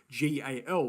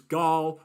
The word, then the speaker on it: GAL: want to get into gal which is gol or gal depending on your pronunciation of the coin itself so gal essentially has